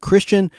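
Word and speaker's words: Krystian: a K it's interesting spelling of Christian k-r-y-s-t-i-a-n Christian godlowski g-o-d-l-e-w-s-k-i Christian God looski provided the character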